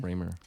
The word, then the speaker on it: Raymer: Well, yeah, Lauren Raymer. Raymer. She's yeah, I didn't know how to pronounce her name either. When I first met her, I called her Rammer for the longest time, and she's like, "That's not my name."